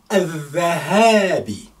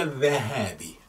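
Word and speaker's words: الذهابِ: You can hear Shadda, so therefore, this letter, silent letter, is hidden there. Al-Zahabi. How many letters? Al-Zahabi. I can tell you, there will be six letters, I think. Al-Zah. So you have Alif Lam, and then Zal. Shadda. That's why we are pausing it a little bit before we pronounce it. Then fatha, the ha fatha,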